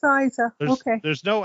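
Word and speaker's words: Eiza: should say anything um so you pronounce her name Isa okay well it's spelled EI I Za a how would you pronounce it yeah it's Isa okay there's no l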